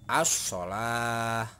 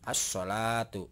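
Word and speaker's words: الصلاة: Sodnya dibaca karena ada tasdid. Jadi alif ini langsung ke sini masuknya ya. Jadi ini tidak dibaca untuk lamnya. Jadi as-sholah ya. As-sholatu ya. Jadi seperti itu cara membacanya.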